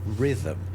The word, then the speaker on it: rhythm: All right, so the h is in rhythm because it ultimately goes back to a Greek word, rhythmos. Oh, Greek words. Then it passes into Latin and is spelled rhythmos Rhythmos. h in it. Oh, really? the h was sounded out in the Greek word.